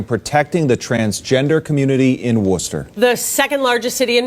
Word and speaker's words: Worcester: you're not from Massachusetts it's spelled like War Chester but it is pronounced Worcester it's the second biggest